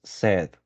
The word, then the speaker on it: said: okay here he wants said in this world you don't pronounce the letter i Right Said he once